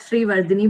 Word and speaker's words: Sreevardane: bit tricky to say so it's actually pronounced that Shri Vini but you can call